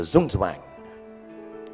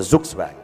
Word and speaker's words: Zugzwang: Then there's what they call, I don't know how to pronounce it, but sounds very cool, the Zugzwang. The Zugzwang, yeah. It's a really cool word. It sounds like a Chinese aphrodisiac. Zugzwang.